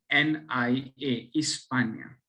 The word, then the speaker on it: Hispania: Spelling is HISPANIA, इस्पानिया, okay.